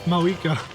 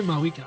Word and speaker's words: Mavuika: If she's a hag, what the fuck does that make Mavuika? Bring it! You say Mavuika, I say Mavuika, even though I absolutely do not pronounce that fucking V.